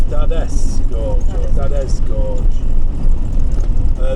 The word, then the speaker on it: Dades: far we' we've actually we keep calling it D Gorge but we we've actually looked at the pronunciation for it and it's actually dades Gorge so it's dades Gorge that is Gorge uh these call it